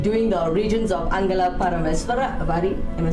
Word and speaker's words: Paramesvari: says, today we're doing the origins of Angala Paramesvari. Am I saying it right? Paramesvari. Paramesvari, yeah.